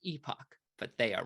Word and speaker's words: epoch: And then we actually have to specify the epochs and the batch size. People say this is pronounced epoch, but they are wrong.